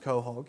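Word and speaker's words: quahog: coh hog pearls as as you can see pronounced Cog yeah I actually get it's a strange spelling or extremely rare organ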